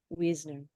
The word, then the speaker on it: Wiesner: question um so Wisner spelled w s n r and as just explained to me it's from Hungarian and Czechoslovakian that it would be pronounced that way so Weisner she is a former